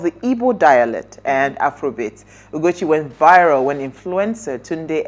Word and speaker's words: Ugochi: All right, so Favour Ugochi Anosike, known professionally as Ugochi, right? That's how you pronounce it.